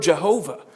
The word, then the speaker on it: Jehovah: Yahweh or Y and with the Y that is often pronounced as a j because of the Hebrew language that's where we get the word Jehovah that's where we get